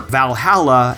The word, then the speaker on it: VA-11 Hall-A: An indie game called VA11 Hall A or Valhalla as it's supposed to be pronounced.